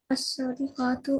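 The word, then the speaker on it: الصادقات: हरूफ शमसी के साथ जब अलिफ लाम लगता है ना तो स्वाद पे शद आ जाती है और लाम साइलेंट हो जाता है। अस्वादिकातु, अस्वादिकाती, अस्वादिकाती। अस्सादिकातु, अस्सादिकाती, अस्सादिकाती, अल कुलूबु,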